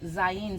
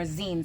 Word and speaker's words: Zayin: For example, in the app on the iPhone and basically online, the Unicode symbol for the Zayin symbol or Zine symbol, however you want to pronounce it, it usually looks like a capital I.